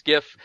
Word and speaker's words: GIF: in front of it it's a hard g it's gif let's move on but